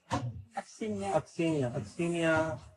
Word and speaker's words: Aksinya: So you become Aksinya, or how do you say your name? Aksinya, Miss Glacier, whatever, something like this.